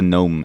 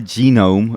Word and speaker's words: gnome: gnome as a gnome yeah I pronounce a gnome as a gnome it's a gnome it's a gnome it's a gnome it's not a genome a genome is what